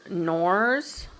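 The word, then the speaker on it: Knorr: quickly this is your norse i think the k is silent so this is your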